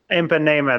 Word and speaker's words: Ipanema: the girl from Ipanema, which I butchered the pronunciation. I'm sorry, I can never say that Girl, correctly. girl from Ipanema. Ipanema, there we go.